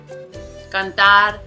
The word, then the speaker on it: cantar: So again, this has two syllables, and accordingly the prosodic accent is going to be on the second, which, just like frijol, is the last.